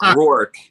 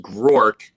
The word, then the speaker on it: Groark: it um you know a lot of people turn it into a two-syllable name it's rorke it's grork will say grow arc grow arc yeah um so book